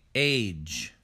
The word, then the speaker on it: age: end of a word we don't say egg e we say age age age breathe breathe